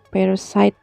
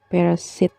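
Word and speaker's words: parasite: yang terakhir ini ya parasit dibacanya per side ya bukan Persib gitu itu aja sih next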